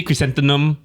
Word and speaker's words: chrysanthemum: Look at the spelling of chrysanthemum, and so then I realized it's not an N, it's an M.